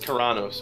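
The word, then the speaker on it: Kharanos: It's pronounced Karanos, okay? Karanos.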